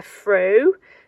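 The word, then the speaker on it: froe: using this set of tools this is a fro uh that's how it's pronounced I haven't got a list it's f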